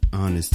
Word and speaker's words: honest: The H in honest is silent, honey.